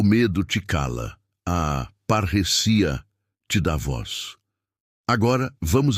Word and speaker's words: parresia: original grego a palavra é parresia, que se pronuncia parrecia.